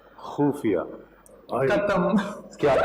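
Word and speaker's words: ख़ुफ़िया: खुफिया. खुफिया. खत्म. क्या बात है, खत्म. खाली. आपने खुफिया बोला, मैं तो खत्म हो ही गया.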